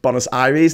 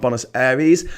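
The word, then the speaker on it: Buenos Aires: so uh first of all bonus Aries it's pronounced bonus iries not bonus Aries something that gets up my nose right is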